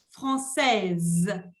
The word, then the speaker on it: française: française. Y ahí no se pronuncia la E, pero se pronuncia la S como una Z.